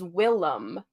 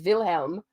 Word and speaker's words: Willem: is William but his his name's name is Willem oh it's because it's been mispronounced his whole life because he's from like a Nordic background of some kind and everybody kept pronouncing it as Wilhelm so he said that real talk isn't that